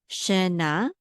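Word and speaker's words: שנה: This is na, shena. Okay, so shena. And then we have a tav with a patach, which says ah, and that's one syllable. So this is ta, shena ta.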